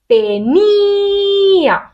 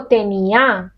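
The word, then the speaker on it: tenía: qui reçoit la force, la force est reçue par le "i". "Teeniiiiiia", je ne dis pas "teniaaaa" ou "teeeenia", je dis "eu" ce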